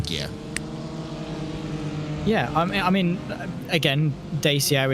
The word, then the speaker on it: Dacia: Yeah, I mean, again, Dacia is how an English person would phonetically pronounce it. But I mean, you've got, you've got to take into account different pronunciations in terms of different countries and things like that, and how they pronounce different letters.